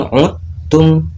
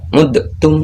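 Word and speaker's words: عدتم: Contoh bacanya seperti wa in uttum, bukan dibaca seperti ini udtum ya. Jadi huruf dalnya diliburkan.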